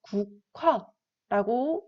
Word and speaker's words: 국화: 자, 이 국화라는 것을 우리가 국화라고 읽게 되는데요. 자, 이것을 하나하나 우리가 분석을 해보면 구, 즉 기역, 우, 기역, 히읗, 와 이렇게 나눌 수가 있어요. 근데 이것을 우리 콰라고 읽게 되잖아요. 즉 기역과 히읗이 합쳐져서 하나의 또 다른 자음인 키읔으로 변하게 된 거죠. 그래서 우리는 국화라고 읽게 됩니다.